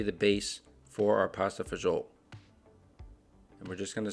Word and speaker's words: fagioli: My grandmother always said pasta fazool, but I'm pretty sure pasta fagioli is the right pronunciation.